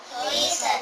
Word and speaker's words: listen: see, open, cook, eat, help, watch, Listen, smile, write, read, wash ya. Ini bacanya apa? cook, Ini bacanya see. Ini bacanya watch, bukan watch. Ini listen. Ininya nggak usah dibaca nih.